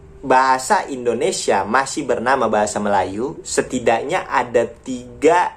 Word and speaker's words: Melayu: logat Melayu Melayu kemudi bacanya Melayu tapi tulisannya melaju karena pada Sabtu ejaannya